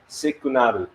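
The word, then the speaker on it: シグナル: And if you can read the katakana over there, in which I have teach many moons ago, it is pronounced as sikunaru. Sikunaru. Actually, it's signal.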